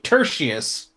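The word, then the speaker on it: Tertius: Ters like tertiary but a little different. Tertiary like we need depends for the tushy. Tertiary as in tertiary is like secondary or third or like it's it's not the primary. So gentlemen tertious is how I've been pronouncing it.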